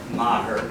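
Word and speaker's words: Meagher: It's actually pronounced Maher, don't worry about that. I'm going to pronounce my name correctly in the family. So, tell me again how? Maher.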